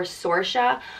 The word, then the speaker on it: Saoirse: or sore of Sarika you can also pronounce it Saoirse or sorsha but that would be more modern the traditional old Irish